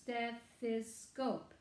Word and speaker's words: stethoscope: step step this goal it's a long word as three syllables stethoscope step though means chest